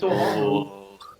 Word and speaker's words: Dormammu: Learn to figure out this guy's name and his pronunciation. It's Dormammu. Manu.